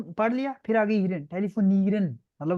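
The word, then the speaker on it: telefonieren: टेलीफोनीरन, अच्छा आप लोगों को पता नहीं है इसमें क्यों प्रोनाउंसिएशन एंड पे ना ईरन, आप सिर्फ ईरन बोलो, ईरन बोलो, ईरन, ईरन, ईरन, ड नहीं आया, ईरन। ईरन, अवैस आप करो, ईरन। ईरन, ठीक है, टेलीफोन ईरन।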